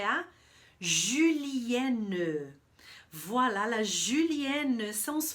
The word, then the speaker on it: julienne: E a minha dica de pronúncia para a palavra, para o termo julienne, é justamente esse U, tá? Eu falei antes que o OU, as duas vogais juntas, tem som de U.